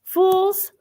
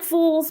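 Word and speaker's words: Fewls: section section real quick so it's spelled f e w LS fools or non magical people and places okay it sounds like fools but and I think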